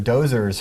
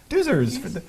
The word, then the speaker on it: Doozers: the actors are like the Doozers are dozers from is that how you pronounce in ghostbusters no no Doozers oh from Fraggle right just like making